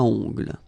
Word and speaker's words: ongles: Okay, O-N, remember, nasal, ongle.